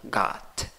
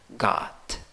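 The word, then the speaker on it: got: get en el pasado gat gat ok mira like con dos puntos gat bien es como mezclar la a con la o comprar en el presente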